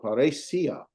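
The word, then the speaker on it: παρρησία: No, paresia. Paresia. Paresia. Yeah, because the accent.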